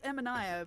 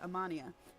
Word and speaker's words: Emanaya: It's Emanaya, but I think everyone calls her Amania.